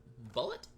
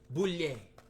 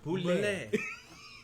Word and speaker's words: Boulet: Bullet? Bullet? Boulet. I'm sorry, I was saying it wrong. Boulet.